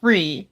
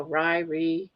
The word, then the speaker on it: Ri: We pronounce it re, right? Yeah. Uh re. It's spelled R I, but it's pronounced like re e too.